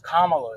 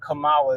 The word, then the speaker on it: Kamala: grasping their straws it's all her name is Kamala it's not Kamala they're racist if they say Kamala I work